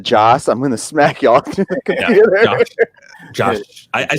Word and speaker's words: Joss: yeah and also also if everyone keeps saying Josh Whedon instead of Joss I'm gonna smack y'all